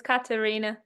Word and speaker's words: Katharina: name incorrectly no worries it's German so sometimes people are confused about the th as Karina yeah yeah so um